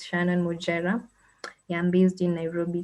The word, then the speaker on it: Mujera: depending on where you learned your english the pronunciation so it's shannon mujerah yeah i'm based in nairobi kenya i'm also